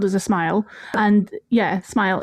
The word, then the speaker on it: smials: So that that's what a hobbit hole is called is a smile. And yeah, smile. It's sm i a ls, but it's pronounced like smile. Like when you smile.